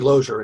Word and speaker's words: Lozier: Am I pronouncing Lozier correctly? It's actually Lozier.